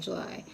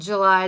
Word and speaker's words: July: It's spelled like the month. Maybe it's pronounced Julie. I'm pronouncing it like July.